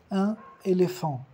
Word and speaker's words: un éléphant: E quando temos som N, quando temos o artículo que acaba como consonne e a palavra que começa por uma vogal, a gente faz uma liaison, un éléphant. Un éléphant, un éléphant, tipo um casamento de dois sons, a regra da liaison.